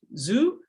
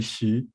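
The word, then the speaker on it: Xu: meet you yeah u is your last name pronounced zoo oh it's actually she i don't really care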